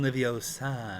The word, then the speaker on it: Leviosa: something, and Hermione's like, "You're saying it wrong." It's Wingardium Leviosa, not Leviosa.